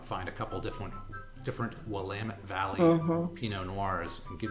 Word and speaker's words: Willamette: them a shot and it is definitely willamette not william mattering this some t-shirts there that say it's willamette damn it to remind you how to pronounce it correctly now what's the price